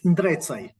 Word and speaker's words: Ndrecaj: How was my pronunciation, Marco? It's all right. It's Ndrecaj. Ndrcaj.